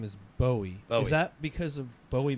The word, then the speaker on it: Bowie: question your dog your brother's dog's name is Bowie is that because of Bowie Maryland or yeah it's pronounced Buoy Maryland yeah although it's spelled like David Bo's